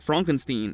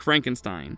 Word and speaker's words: Frankenstein: Igor is surprised to learn that this is Frederick Frankenstein and not Frederick Frankenstein.